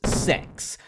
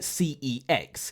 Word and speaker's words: CeX: well, the company is pronounced Sex, but I tend to call it CEX, because if I told